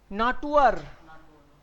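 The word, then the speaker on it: Natur: नाटुअर.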